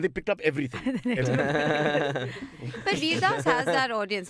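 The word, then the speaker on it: Vir Das: Vadas was telling us on the show. How do you pronounce it? Veerdas.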